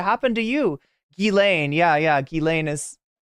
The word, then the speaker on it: Ghislaine: Ghislaine, yeah, Ghislaine is how it's pronounced, right?